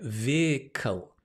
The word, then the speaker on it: vehicle: an interesting word right vehicle difficult word to pronounce not difficult interesting and quite entertaining vehicle veer coal coal it's got the dark l vehicle right if you're